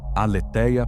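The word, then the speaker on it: aletheia: Primeira palavra, aleteia, palavra grega pronunciada.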